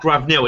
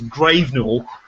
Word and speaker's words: Gravenell: It is not Gravenell. It is Gravenell, I believe.